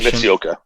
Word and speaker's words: Eiji Mitsuoka: I'll probably butcher the pronunciation. Eiji Mitsuoka.